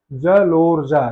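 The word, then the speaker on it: जलोर्जा: तो जैसे हमारे पास जो जलोऊजा है इसका जब हम उच्चारण करेंगे जलोऊजा। जलोजा यानी लो पे ज्यादा हमें बल देना पड़ रहा है।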